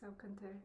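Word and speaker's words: Salkantay: How do you pronounce that one? The Salcantay? Salcantay.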